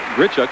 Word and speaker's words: Grishuk: the couple of Oksana Grishuk and Evgeni Platov, our current leaders. And Oksana told us that her name has been mispronounced and misspelled through the years. It is not Grishuk, but Grishuk.